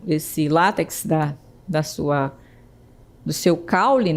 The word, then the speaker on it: látex: Temos a palavra láx em vez de látex, né? Então, observe aí que eu tenho o acento tônico é no lá e não no final. Então a gente pronuncia látex e não latex, certo?